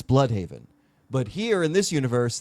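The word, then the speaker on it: Blüdhaven: The way he pronounced Blude Haven, it's Blood Haven.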